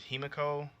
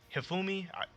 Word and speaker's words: Hifumi: I want to say her name is Himiko. No, Himafumi. Hifumi.